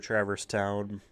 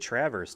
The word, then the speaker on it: Traverse Town: Oh, after this, I believe we have to go back to Traverse Town. Traverse Town. I've always called it Traverse Town.